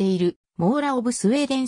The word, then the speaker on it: Mora: を持っているもうらの正しい発音は長屋王の mora であるありがとうございます